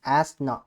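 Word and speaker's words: Asna: ஓகேவா, ஸோ the name அஸ்னா pronounced அஸ் ஆஸ்னா was given by Pakistan.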